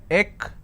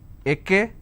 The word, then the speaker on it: extra: If I have to break it for your quick understanding, it's extra. It's extra. Now what mistake people do is they pronounce this as ekestra. So this is wrong. It's not ekestra, it's extra.